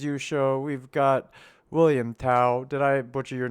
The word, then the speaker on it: Thao: show we've got william tau did i butcher your name or did i pronounce it no you're good yeah that's exactly how you pronounce it okay okay what